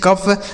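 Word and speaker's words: cough: जैसे हमने पढ़ा टी ओ यू जी एच टफ सी ओ यू जी एच कफ आर ओ यू जी एच रफ ई एन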